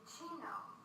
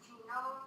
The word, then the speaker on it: genome: So the way I like to remember it is genome rhymes with home, and when you purchase